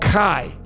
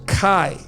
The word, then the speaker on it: chi: And why I'm saying that is because this letter in the Greek is called chi. That's how you pronounce it, chi.